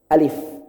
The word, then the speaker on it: alif: seperti orang Sunda asli Orang Sunda itu baca Alfa dua bibir Pak eh bukan kurang tepat harusnya Faith 11 bibir jadi pengucapan alif.lam.mim yang benar adalah Alif bukan ahli facebook-an terlebih terakhir kalau